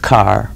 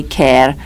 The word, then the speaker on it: Kerr: now it's car k e r r and it's pronounced car that's right I I